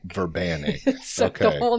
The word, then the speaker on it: Verbanic: Verbanic. Verbanic.